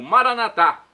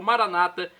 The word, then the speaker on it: Maranata: e agora do aramaico Eu Clamo maranat como dizemos nós católicos ou Maranata como dizem nossos irmãos separados os evangélicos ou protestantes não importa a pronúncia o significado é o